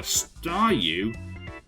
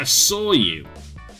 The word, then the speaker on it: Staryu: was just still a Staryu, I could never pronounce its name right, so I just called it a Sawyu. I always ended up it always ended up sounding like Sawyu, so I guess I kind of reverted to that.